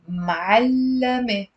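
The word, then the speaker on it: معلّم: So you have to put the fatha and the shadda on the lam. That's what makes the difference in the meaning.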